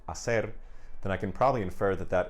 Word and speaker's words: hacer: But that is why we have these silent H's written in Spanish in words like hablar, hecho, hacer, okay?